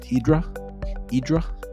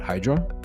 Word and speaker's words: Hydra: And by the way, locals and Euros pronounce it Idra, not Hydra.